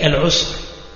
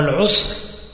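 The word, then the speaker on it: العسر: du Qur'an, al-yusr et al-usr. Donc al-yusr bil-ya, wa al-usr bil-ayn. Et le reste, c'est la même prononciation, al-yusr wa al-usr.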